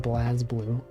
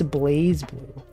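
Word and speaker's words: BlazBlue: playing blaze blue and I know enough about blaze blue to know it's not pronounced blaz blue that's one thing so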